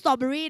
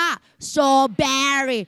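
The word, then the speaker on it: strawberry: Error error สตอเบอร์รี่ เลย ไม่ พูด สตอเบอร์รี่ นะ คะ ออก เสียง ว่า สตอเบรี่ เชอรี่ ล่ะ คะ แี่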